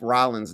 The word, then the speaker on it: Rollins: they spelled Seth Rollins' name wrong.